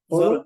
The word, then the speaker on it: Xolo: Oh, Holo, is it Zolo? Zolo, XOLO. XOLO, guys.